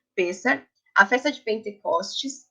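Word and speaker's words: Pessach: não tava na dúvida se a pronúncia era Pêssar ou Pessar, mas Pêssar, a festa de Pentecostes e Tabernáculo.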